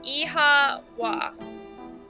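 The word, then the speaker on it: Oíche mhaith: Oicha, it's Irish for good night. One dialect would pronounce it as Iha Wa.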